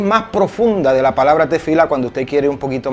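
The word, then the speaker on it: תפילה: secreto esta palabra literalmente desde el hebreo se pronuncia tefilá y la palabra este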